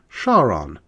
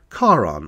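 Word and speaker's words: Charon: delivered to this day many American astronomers still pronounced the Moon's name shaon rather than the more correct Kon or Kon in oblique reference to this tale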